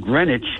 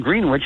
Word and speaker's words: Greenwich: So they went to this quiet town called Greenwich in New Jersey, and they bought their tea there.